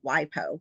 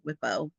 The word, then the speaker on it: WIPO: So, we're going to talk a little bit about WIPO or WIPO. Heard it pronounced both ways, but it stands for the World Intellectual Property Organization.